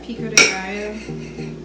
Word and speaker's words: pico de gallo: Yeah, pico de gallo.